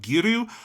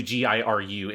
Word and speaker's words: Giru: So it stutters on that second syllable. But it doesn't actually matter. But yeah. Yeah. I just noticed when I was listening that it's a soft Ru in the mouths of the actors.